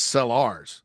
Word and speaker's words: Sellars: 6 through 8 e that is sellars s e l l a RS not spelled like Lenoris I don't think and he's